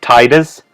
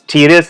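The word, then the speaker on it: Tidus: played Final Fantasy 10 I immediately pronounce his name as Titus but then I saw a video on YouTube and they pronounce his name as tedious I was like what like what are you talking about his name is titus not tedious like I was like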